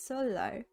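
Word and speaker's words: 설날: assimilation this can be seen in solar which is the korean new year so and now so no is pronounced as solo when nian and leo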